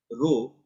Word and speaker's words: rho: This is a Greek letter pronounced as rho, and it represents density.